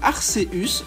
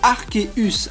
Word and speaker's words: Arceus: parfois la légère comme Arceus non non sa véritable prononciation et bien arqueus avec un K il faut d'abord savoir